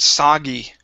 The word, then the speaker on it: soggy: you is the word soggy right here instead of it's sa with an ah sound soggy yeah very nice very